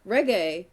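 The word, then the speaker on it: Regé: No, it says it sounds like the musical genre reggae.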